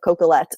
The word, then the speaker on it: Coquillette: Um it's because no one can spell or pronounce my last name of Cocolet.